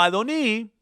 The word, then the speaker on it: Adoni: la suprema deidad pero como es pronunciado en el texto masorético como adoni están claramente equivocados señor